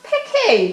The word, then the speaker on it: Peck: Peck, I'm here. It's pronounced Pecky, dear.